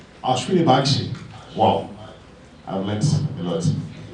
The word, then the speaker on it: Ashwini Bakshi: How do you pronounce his name? Ashwini Bakshi.